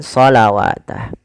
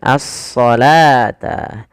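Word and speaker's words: الصلاة: Dia membacanya dengan shawatah. Padahal di sini adalah bentuk rosem saja dalam penulisannya, yaitu dia apa? Dia dibaca dengan asalata.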